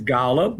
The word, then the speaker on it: Golub: And did I pronounce it correctly? Is it Golub? It's Golub.